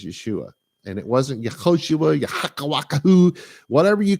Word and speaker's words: Yeshua: yeah yeah yeah we didn't have a j we have a sound of J there there was no Jesus there was in the first century there has never been a human being any from any place or any time named Jesus that did not happen his name was Yeshua and it wasn't whatever